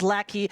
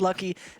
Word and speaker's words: Lackey: he's actually also tom it says lackey he should be pronounced lucky actually seen the sage